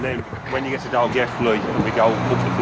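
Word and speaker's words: Dolgellau: Or if you read it on the map, it sounds like it's saying Doggaloo. That's it on the sign there, yeah, pronounce it Dalgethley.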